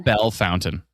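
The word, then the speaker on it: Bellefontaine: English pronunciation on that one. Bell Fountain.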